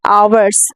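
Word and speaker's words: hours: होते हैं मसल हमन जब हम कहते हैं आवर्स आवर्स यानी घंटे तो हम ए ओ यू आर एस हार्स नहीं पढ़ते बल्कि हम आवर्स पढ़ते हैं ठीक है इसी तरह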